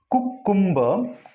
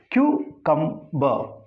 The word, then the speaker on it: cucumber: If you read it cucumber, then three mistakes. Here Q, not to ku. Here come, then two mistakes. Here if R it should be silent. If you are pronouncing this R, it is a mistake. So it is to be pronounced cucumber. This final R is to be silent when the word is said in isolation.